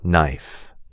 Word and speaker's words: knife: Silent P for receipt, psychology, and silent K for no, knee, knife.